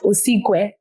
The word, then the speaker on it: Osigwe: I mean, king in Igbo is Igwe. So just put the OS Gwe. OS. Yes, Yeah, OS Gwe. Oh, Crown of King. So yeah. Crown of the King. Yeah, Osigwe.